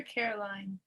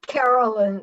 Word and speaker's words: Carolyn: Carolyn, is it Carolyn or Caroline? It's Carolyn. The E is silent, but it's there.